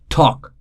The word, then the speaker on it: talk: call it silent letter talk l is silent walk again ellis island